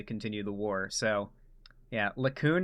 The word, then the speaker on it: Likud: So, yeah, Likud No, it's Likud.